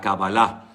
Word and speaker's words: Kabbalah: Se llama la Kabbalah. La mayoría de las palabras en hebreo generalmente suelen ir acentuadas en la última sílaba.